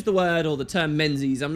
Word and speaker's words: Menzies: word or the term menes I'm not even sure what it's supposed to refer to in the real world the pronunciation from those Scottish people was actually closer to Mingus yes no joke Mingus which sounds kind of